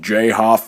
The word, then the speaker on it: Joff: Oh, it's pronounced J-Hoff Films.